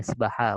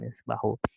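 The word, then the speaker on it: يسبح: yuridu Ay yasbaha maaf karena ada an di sini maka dibacanya yasbaha bukan yasbahu yuridu an yasbaha fil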